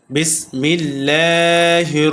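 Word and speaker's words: بسم الله: বিসমি কোন টান হবে না। হরকত তাড়াতাড়ি উচ্চারণ হবে। বিসমিল লা বিসমিল্লাহ। এ আল্লাহর সাথে লামকে বারিক করেছি। অর্থাৎ পাতলা করে পড়েছি। কেন? কারণ এই আল্লাহ শব্দের লামের পূর্বে জের আসছে।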